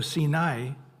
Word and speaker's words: Sinai: Actually, it is I pronounced as I after an A. So Sinai, we don't know what it means.